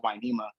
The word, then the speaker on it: Hueneme: She still pronounces it Wainema.